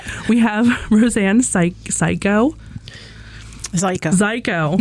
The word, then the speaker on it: Zajko: have Rosanne Psy psychoo Zeo rhymes with psyo psycho rhymes with psycho Rosanne ziko she is a Gettysburg